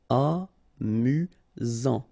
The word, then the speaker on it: amusant: You've got only one S here between the vowels, so it's really this Z sound. Amusant.